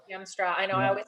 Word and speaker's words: Hiemstra: by my name heemstra but my last name spelt like it's pronounced heimstra yamstra i know i always